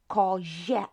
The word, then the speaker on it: kozie: Kawa becomes kawie, and koza becomes kozie again. It's not zie, it's je.